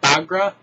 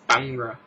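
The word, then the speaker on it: Bhangra: number three uh Corel bagra I thought it was bagra but no you don't uh pronounce I guess the H and it's bangra Bang see this is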